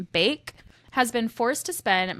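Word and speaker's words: Baek: So Sophie, I think her last name is pronounced Bake, has been forced to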